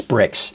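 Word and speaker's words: Brix: It is bricks, not brie, not like brie like the cheese, right? It's bricks. It's pronounced like bricks.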